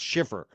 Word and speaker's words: Schiffer: It's not Shepard. It's Schiffer.